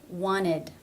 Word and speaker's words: wanted: Also, wanted. I wanted to know. Wanted. Again, no stop, no T, and no D.